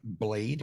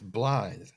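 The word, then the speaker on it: Blaidd: mentioned him is because a lot of people have been pronouncing his name blade because it's b-l-a-i-d-d blathe which means to bluff but it's welsh for wolf so it's blithe so when you run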